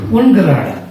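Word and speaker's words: ungerade: G referring to Gerada, U referring to Ungerada. That's the correct pronunciation. It's German terminology.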